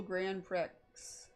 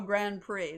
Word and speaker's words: Grand Prix: go the bound Bowl Grand Pricks oh Grand Prix that's how that's pronounced the the the x is silent why is he jumping